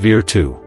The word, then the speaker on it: virtù: Machiavelli introduced the concept of virtù, pronounced virtù. Now, don't confuse this with our English word virtue.